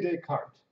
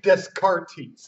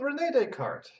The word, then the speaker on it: Descartes: say his name right don't be saying disc artis that's not how it's said I hear you at a fancy cocktail party saying you've read tusk Artie's everyone's gonna laugh at you and I'm not gonna feel bad for you because I told you how to say his name it's take heart like des cart yeah it's French the French spill and pronounce things differently so Rene Descartes now